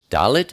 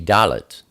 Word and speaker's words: Dalet: Dalet is the number 4, and it's pronounced D, like door.